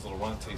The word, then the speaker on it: Laronte: And your son's name, let me get a correct pronunciation on it. His name is Laronte Stevenson.